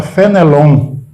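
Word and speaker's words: Fénelon: Esse nome muitos colegas dizem errado, porque tem um acento no fé. E no francês, o acento não indica a tonicidade da sílaba. É outra história. Então está no fé, mas a gente fala Fenelon.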